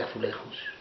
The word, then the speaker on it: azulejos: crear estos murales de azulejos. En Lisboa, los azulejos pronunciados a la manera portuguesa, no a la española con la J, están por todas partes.